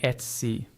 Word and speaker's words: Etsy: This sounds just like the word pet, but without the letter P at the start.